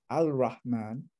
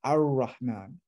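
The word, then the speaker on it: الرحمن: So you, instead of al-ra, al-rahman, you pronounce it ar-rahman, ar-rahman.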